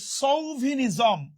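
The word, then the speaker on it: chauvinism: আচ্ছা, এবার চলে আসে সৌভিনিজম। উচ্চারণটা খেয়াল করেন, অনেকের উচ্চারণ ভুল করে।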